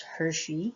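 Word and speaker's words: Hirschi: of the theory uh is travis hershey i believe that's how you pronounce his name um this is him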